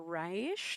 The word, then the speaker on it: Ra's al Ghul: I say Roz because Philip Kennedy Johnson told me that's how you say it.